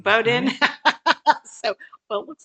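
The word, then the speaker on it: Bowdoin: Yeah, they pronounce it Bowden. Bowden.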